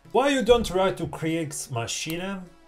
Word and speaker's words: Kriegsmaschine: Why you don't react to Kriegsmaschine? I think that I pronounced well. I checked on Google Translator and the bitch said Kriegsmaschine. So I guess it's right.